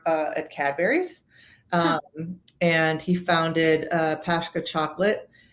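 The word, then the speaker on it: Pascha: used to work at cadburys and he founded pashka chocolate it's spelled p-a-s-c-h-a after his daughter was diagnosed with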